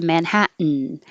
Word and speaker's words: Manhattan: touch your lip wax mountain is similar to manhattan and that your t is followed by an in and they're both in the unstressed syllable so the t can disappear manhatt but you can't